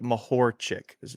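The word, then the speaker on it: Mahorčić: the uh Dallas Maverick um so it's like mahor chick yeah so you know if you if you're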